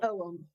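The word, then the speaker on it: Ogham: om o g a a m but it's pronounced Owen beautiful uh there any associations with the OM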